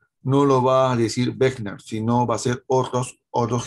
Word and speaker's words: Wegener: Pero se pronuncia Wegener, ¿no?